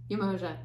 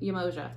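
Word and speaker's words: Yemọja: thank you michael um umoja is what she wants to be called there's two different pronunciations she i resonate with yamoja um i actually was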